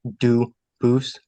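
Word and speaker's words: Dubois: They do pronounce it dubis, but you said you pronounce it dus as the original duboose as the original French.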